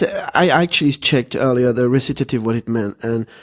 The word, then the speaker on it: recitative: like an opera wrasses at Eve recitative yeah recitative that's so I checked on YouTube the pronunciation before the recitative anyway yes that says